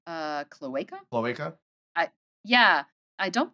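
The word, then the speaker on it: cloaca: you say this uh I believe it's uh CLA CLA I yeah yeah I don't think it's Kaka pretty sure it's CLA CLA and then they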